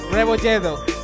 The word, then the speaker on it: Rebolledo: Your name, how it's pronounced properly. I don't want to fuck it up again. Revojedo.